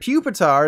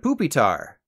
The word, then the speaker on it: Pupitar: pick a pack and Pupitar instead of poopitar and for a recent